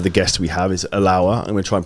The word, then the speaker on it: Allaoua: And you pronounce it very well. Yeah. Allaoua.